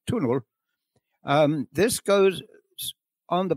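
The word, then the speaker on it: túnel: tunnel which is spelled t n l and pronounced tunel um this goes on the bypass road around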